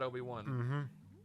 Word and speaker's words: Obi-Wan: thing wrong with that ob1 just all-around pleasure yeah that's how you say it's not open one it's a fantastic character